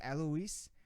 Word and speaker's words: Helios: In the band, I believe it's pronounced Eloise, but it's spelled Helios.